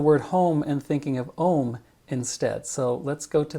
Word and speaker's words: Om: Home's the end of the So ohm, which again rhymes with home, and you hear that